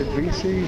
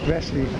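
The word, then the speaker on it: Vesey: Street I don't know some folks pronounced VC some vessie I I kind of go at VC Street the 911 memorial uh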